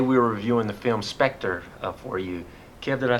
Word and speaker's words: Spectre: were reviewing the film spectre-4 you care that I said it right yes you did it is Spectre it does not spectra is not spectra it is Spectre good job Thank You